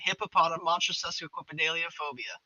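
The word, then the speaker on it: hippopotomonstrosesquippedaliophobia: Hippopotam monstrosidelophobia.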